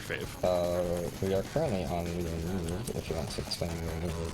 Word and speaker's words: Leo/need: We are currently on Leonid, if you want to explain the Vivid Bats. We are on a Leonid track. The notes say Leo/need. The slash is silent, so note it.